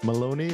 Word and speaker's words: Maloney: Okay, I am here with my friend Maloney. Am I getting that You are correct, right? Yeah. Not that hard of a name, but you always have to check. You'd be surprised. Really? Rhymes with baloney.